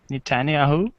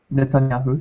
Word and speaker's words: Netanyahu: Netanyahu. Netanyahu.